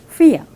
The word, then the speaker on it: vier: How to pronounce four? Vier.